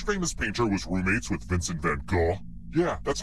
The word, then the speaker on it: Vincent van Gogh: first question which famous painter was roommates with Vincent van Gogh yeah that's how you pronounce his name I was about nature these